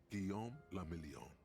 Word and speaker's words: Guillaume la Million: For Revachol, your city, that meant only one thing: Guillaume la Million. If it doesn't rhyme, you're not pronouncing it right.